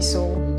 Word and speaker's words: Sowl: I think Miss is a bit too serious, so you can call me Sowl. Sowl is spelled S-O-W-L. It's the old spelling for S-O-U-L, as you know, Sowl.